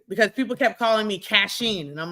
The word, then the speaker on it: Kachine: It's spelled K-A-C-H-I-N-E. If you spell cash, K-A-C-H, people tend to say my name as Kachine. That's not my name. It's Kachine.